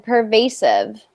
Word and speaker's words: pervasive: pervasive pervasive influence good try working on that V sound again we want that vibration right so not pervasive purva pervasive pervasive mmm clothes you're still saying the W sound can you try it's hard because I can't see you but um putting your lips closer together and keeping them flat so per the the